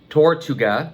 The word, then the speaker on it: Tortuga: I found this on Amazon, and yeah, I do believe it's pronounced Tortuga.